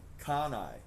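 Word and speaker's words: CANI: As a result of this understanding, I created a simple mnemonic, kanai, pronounced kunai, kanai, kanai, kanai, kanai. That's C-A-N-I, pronounced K-U-H-N-E-Y-E, kanai, which stands for constant and never-ending improvement.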